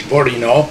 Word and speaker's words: Bourinot: a good job yeah the right pronunciation my name is borino very new and uh